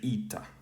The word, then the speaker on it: η: to be this now in modern pronunciation again this has become uh in classical this was uh a in modern this like i said it's a vowel sounds converged to e so the modern greek speaker would say ita here so let's go